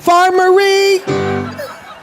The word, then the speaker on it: Farmerie: When I pronounced his last name, I said it incorrectly, 'cause the accent's on the last syllable. David Robert Farmerie. Not like armory, Farmerie.